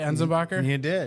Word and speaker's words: Enzenbacher: Did I pronounce that right? Enzenbacher? You did.